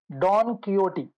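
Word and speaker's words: Don Quixote: he wrote a novel Don kot the pronunciation should be kot Don kot so this is a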